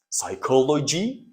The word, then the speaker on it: psychology: sorry this is p p is not pronounced psychoo ly and the complete or the whole word is pronounced psychology now actually it is